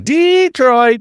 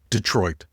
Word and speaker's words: Detroit: You can't just walk around saying Detroit like you're hosting a geography bee. You have to go and commit to Detroit. Let that D get soft. Let those syllables blur together like a proper Midwesterner who's got places to be and no time for pronunciation.